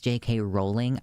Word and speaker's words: Rowling: still on Twitter as JK Rowling that's it's actually it's JK rolling I know how to correctly pronounce it I won't sorry not